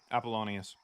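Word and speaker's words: Apollonius: Appalonius.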